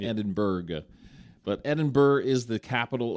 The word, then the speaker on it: Edinburgh: And from London, we went to Edinburgh, Scotland. And it's not Edinburgh, even though it's like Berg, B-U-R-G-H.